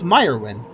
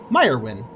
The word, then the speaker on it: Myron: broad smile hi there I'm Myron the Mage pronounce meyerwin meyerwin okay thank you thanks for telling me how